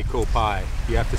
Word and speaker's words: Koh Phai: Because you can't say Koh Phai. You have to say Koh Phai.